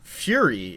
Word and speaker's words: Furi: I started playing Fury. It's spelled Furi.